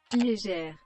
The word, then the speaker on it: Léger: Carolina Herrera, aquele degradê, o Leger, acho que é assim a pronúncia. É assim, né? Joe, se eu pronunciei errado, me corrige aí, tá? É, tá bom. Léger. Léger. Léger.